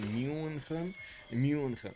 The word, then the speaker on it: München: Okay, that was the correct pronunciation, right? In German, München.